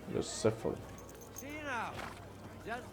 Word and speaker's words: Bucephalus: What kind of name is Bruce Phallus anyway? It's pronounced Bucephalus. Bucephalus.